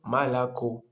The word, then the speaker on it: молоко: И вот мы читаем молоко. Молоко, почему два О внутри слова это не ударение, мы читаем А, и в конце слова мы читаем О, почему это ударение.